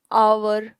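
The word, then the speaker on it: hour: Before a word beginning विथ एच, लेकिन उसे हम प्रोनाउंस नहीं कर रहे हैं, यानी कि वो साइलेंट है। And therefore beginning विद the sound of a vowel, जैसे हमने कहा एन आवर, एच से शुरू हो रहा है। ऑनेस्ट मैन, सो ये एच से शुरू हो रहा है लेकिन एच साइलेंट है, तो हमने इसके सामने भी आर्टिकल एन यूज किया।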